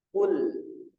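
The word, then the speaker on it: قل: Qul ya KL nah ini huruf qf berharakat damah kemudian ada lam ya yang berharakat sukun maka cara membacanya adalah dengan memonyongkan mulut karena kita membaca harakat damah kemudian ketika masuk lam mulut Dikembalikan pada posisi normal KL Qul Qul Qul qulib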